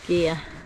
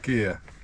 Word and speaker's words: Gigha: Gigha. Gigha. It's spelled Gigha with an H.